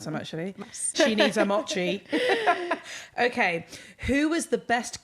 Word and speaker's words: mochi: Mint cheese. Is that how you say it? Mint cheese? I call them mochis. Oh, mochi.